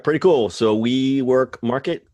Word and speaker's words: WeMRKT: So WeMRKT, it's spelled, it's actually we, and then all in capitals MRKT, because that's how people like to spell things now. Market. WeMRKT. WeMRKT.